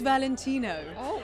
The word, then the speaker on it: Valentino: thank you I'm it's Valentino I feel like I have to say it like that because it's kind of hallowed ground so yeah very